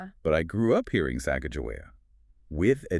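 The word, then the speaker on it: Sacajawea: They prefer Sak Joey with the J.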